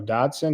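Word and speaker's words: dachshund: um I love the dashon I think he's a dotson right Das the same thing bab is I don't know anything about oh doson that's how you say it it's spelled weird doson dashin okay I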